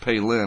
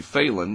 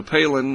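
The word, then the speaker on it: Phailin: and it's uh pronounced palin i believed or palin it's spelled p-h-a-i-l-i-n and you think it would be phelan but it's the phi is pronounced p-a-y so palin or palin heading into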